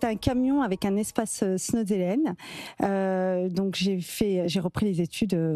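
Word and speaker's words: Snoezelen: Alors là, vous venez d'en prononcer un, il va falloir que vous nous expliquiez le Snozelen, je ne sais pas comment on prononce. Snozelen.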